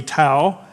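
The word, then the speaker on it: Tou: 9 this King uh pronounce it Tau t-o-u all right maybe two or but I say Tau the king of hamath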